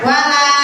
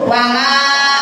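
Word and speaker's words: ولا: Alifnya alif ziyadah, tulisannya ada alifnya tapi dibacanya pendek. Pas kayak ibu sama juga wala ana, seperti itu wala ana, jangan dipanjangin Bu.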